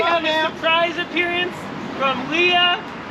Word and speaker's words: Lia: Most people say Na, but most but I use the last two letters of my first name. So, it's L I A Leah. So, it's much easier to pronounce, trust me.